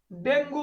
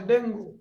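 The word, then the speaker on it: dengue: এরপরে এই যে ফুলু ডেঙ্গু বানানটা আসে ডেঙ্গু উচ্চারণ হবে ডেঙ্গি এই যে ডায়রিয়া অনেক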